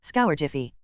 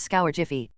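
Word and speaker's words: Scourgify: as he spoke also when you pronounce scour Jiffy soften the GI sound a bit try it again and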